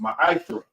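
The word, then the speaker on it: מעשר: Means tenth in Hebrew, and it's pronounced ma'asra. 10% of any penny of any increase the Lord gives you, give to the treasury department or teacher.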